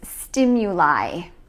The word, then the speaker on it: stimuli: The plural form is stimuli. And notice that we pronounce it with the I sound at the end.